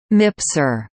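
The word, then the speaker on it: MPSR: the multi-purpose support room MPs are pronounced mipzor backroom flight controllers are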